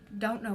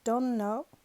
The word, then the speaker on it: don't: So don't know, the T is silent.